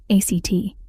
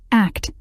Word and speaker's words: ACT: acceptance and commitment therapy act act pronounced as the word Act was created in the